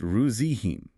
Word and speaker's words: regime: The soft G sound is crucial here. The word is pronounced ruzihim, stressing the second syllable and ensuring that Z sound, similar to lingerie or genre.